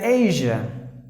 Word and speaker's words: Asia: It should be like Asia. Or Asia, like this. Asia. Not Sia. The Sia must be pronounced like J, but J is not there in Tamil or not even in Hindi.